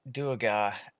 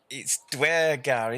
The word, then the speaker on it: Duergar: I wanted to interrupt briefly the Duergar, or it's Dwergar, isn't it? As one of you quite rightly said.